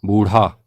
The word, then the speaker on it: बूढ़ा: लगेगा अगली वर्तनी है बूढ़ा हम यहां पर ढ में नुक्ता नहीं लगाते हैं और वह अशुद्ध प्रयोग हो जाता है शुद्ध वर्तनी में ढ में नुक्ता लगेगा और उच्चारण होगा बूढ़ा अगली वर्तनी है अनुसंधान